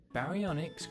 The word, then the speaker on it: baryonyx: barianics baryonyx x how do you say that again ba re on x baryonyx grew to be longer